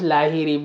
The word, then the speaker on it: Lahiri: I would like to say it is pronounced Lahiri, but लाहिरी।